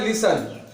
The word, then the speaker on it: listen: TEN और TCH में T silent होता है, दोनों TEN एक साथ होगा, ये एक साथ होगा, और TCH एक साथ होगा, तो ये टी जो है साइलेंट हो जाएगा।